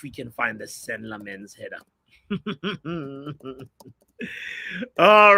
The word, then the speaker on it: Lammens: So it's like lemon, but not really like lemon. It's like lemon, but you got lemon in your mouth. Lammens.